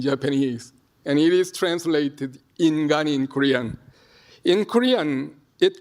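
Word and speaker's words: 인간: It is pronounced ningen in Japanese and ingan in Korean.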